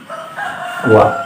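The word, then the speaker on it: 와: Jadi wa. Mungkin kan kalau orang Korea mah kayaknya cepet. Jadi ini tadinya dibacanya oa, tapi karena orang Korea itu lidahnya cepet jadi wa kayak gitu ya.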